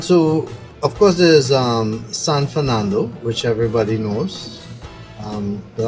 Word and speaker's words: San Fernando: short but I mean the correct pronunciation is San Fernando and that's really a